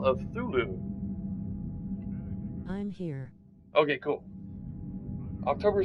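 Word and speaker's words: Cthulhu: it's called call of thulu c t h u l h u is the last word but it's pronounced thulu c t c-t-h-u-l-h-u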